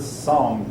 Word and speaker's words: Song: The Song Dynasty. That's actually pronounced Sung, I believe.